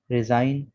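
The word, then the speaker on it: resign: N आ रहा है, तो G के बाद जब कभी भी N आ जाए तो G साइलेंट होगा।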